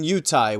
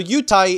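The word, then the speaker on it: 犹太: well lately the word for Jew has been yutai which comes from yehudi which means somebody from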